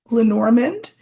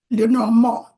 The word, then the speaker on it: Lenormand: you can pronounce it lorand or you can be French about it and pronounce it Loro all are correct someone